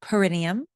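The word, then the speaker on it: perineum: to the base of your spine, your paranium. Some people pronounce it the perennium.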